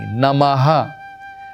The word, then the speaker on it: नमः: करना करना है और मा जो है आखिर का नमः उसके साथ विसर्ग बोलना है। हा जब हम बोलते हैं नमः नमः नहीं नमः विसर्ग के साथ उसका उच्चारण करना है और उसका अस्त्र के